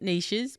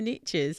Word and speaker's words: niches: As the Americans say, the riches are in the niches. Now we call it niches, but it rhymes so much better when you say the riches are in the niches.